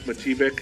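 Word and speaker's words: Matijevic: How do you pronounce that name? Mike Mativic.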